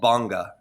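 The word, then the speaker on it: bhanga: He goes, "You might hit a state uh called banga is spelled b h a n g- a banga nana."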